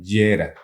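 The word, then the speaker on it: Jera: Sí, la runa Yera se escribe con J, Yera, E-R-A, Yera. Lo oyes y es year en inglés, es Jahre en alemán.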